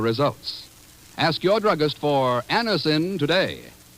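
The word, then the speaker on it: Anacin: X when we ask you to try Anison for the relief of pain due to a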